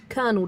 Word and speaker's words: colonel: Yeah, that that is actually how you pronounce it. It's left tenant. Lieutenant isn't right. It's like colonel doesn't make sense.